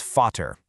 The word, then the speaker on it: Vater: Take the German word for father, spelled VATER. Applying rule two, it instantly becomes fatter.